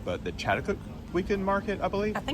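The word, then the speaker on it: Chatuchak: And I never pronounced it correctly, but the Chattakook weekend market, I believe.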